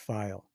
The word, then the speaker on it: Pfeil: when they see it PF i l pronounced file that's right good so